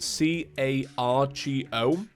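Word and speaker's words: Kagoh: I think when you hear it, you probably assume it's spelled C-A-R-G-O.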